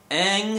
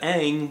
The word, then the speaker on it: Aang: Instead of Aang, we have Aang.